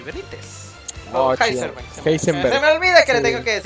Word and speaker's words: Heisenberg: Heisenberg se dice. Anda. Heisenberg. Sí, es Heisenberg. Mm. Pero se dice con la ha. No con J.